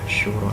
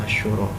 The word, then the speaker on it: Asy-Syura: kemudian Quran surat Asy-Syura, ya Asy-Syura, bacanya ini Asy-Syura ya, soalnya ada ayat Al-Quran surah yang salah satu surat dalam Al-Quran ada Asy-Syu'ara.